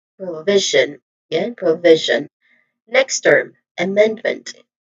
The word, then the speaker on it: provision: So again the stress syllable is the second v. So we say it as provision.